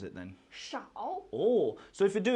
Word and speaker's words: 少: going to be few, and how do we pronounce it then? 少 Oh, so if you do it in English